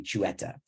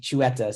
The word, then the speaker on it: Xueta: Jewish they must be chuetta that was the first time I heard this word you see behind me chueta spelled with an X and after seeing the